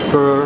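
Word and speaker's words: phở: guy pronounced that way not not F but fur or far it's extremely good everybody's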